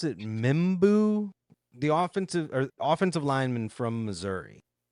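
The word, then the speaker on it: Membou: Do you pronounce it Mimbu? The offensive lineman from Missouri. I think. Mizzou. Yeah, Armand Mimbu. Mimbu. Yeah. That's how you pronounce it, right?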